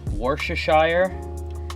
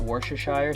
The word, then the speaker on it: Worcestershire: is one of the key ingredients it's the Worcestershire I think that's how you say it Worcestershire sauce next is a little bit of ketchup